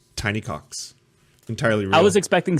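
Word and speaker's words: Tiny Kox: Spelt with a K. Pronounced Tiny Cox.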